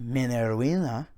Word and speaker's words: Minervina: You kind of go back and forth on how you want to pronounce that, but I think Minervina is probably how you would say it. Is how you would properly say it through classical Latin.